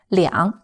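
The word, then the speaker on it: 两: or a phone number the number two is pronounced as are for example we used to express quantity use liang plus a major word to say to of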